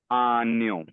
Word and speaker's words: año: So ANO. Enye. It's not N. It's enye. This one. N with a crown.